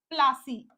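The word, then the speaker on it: Plassey: फूल कहा जाता था इस वर्ड से ही नाम निकला है प्लासी आधा पा प्लासी ठीक है ये अंग्रेजों की दिन थी इस नाम को बिगाड़ कर उन्होंने प्लासी कर दिया ठीक है पलाश होना चाहिए क्योंकि पलाश के फूल से ही वो वर्ड बना था लेकिन प्लासी कर दिया गया ठीक है तो ये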